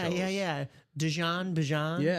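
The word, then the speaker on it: Bijan: He's like you guys are actually saying my name wrong. It's Bjan.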